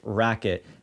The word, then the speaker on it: RQT: long rqt paddle and it's actually pronounced Racket and it's aimed for